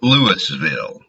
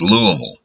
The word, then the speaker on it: Louisville: And for y'all who aren't sure, that's how you pronounce it. It is not Louisville. It is not Louisville. It's Louisville.